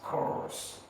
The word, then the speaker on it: coarse: this our analysis we said that it is pronounced as curse that way you can easily see the difference